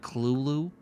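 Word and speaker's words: Cthulhu: which apparently according to St Joi it's actually pronounced Kulu so like I don't freaking know I don't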